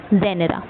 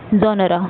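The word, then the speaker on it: genre: Next जो आपका term है लिटरी टर्म है वो है आपका जेनरा। जोनरा जो भी आप प्रोनाउंस करें वैसे जेनरा ही बोलते हैं।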